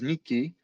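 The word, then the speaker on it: 日記: Uh there is a Japanese word that is pronounced as Nikki. uh written in um first kanji read as nii day and key being like recordings or chronicles. So daily chronicles means diary.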